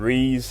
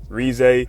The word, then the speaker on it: Reze: And Ree Rez, my bad. I kept I said Ree the whole time before the anime came out. My fault. They didn't pronounce it in the show. Rez.